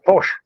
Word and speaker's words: Pox: POX. Yeah, Posh. Sigilocero. It's not Pox.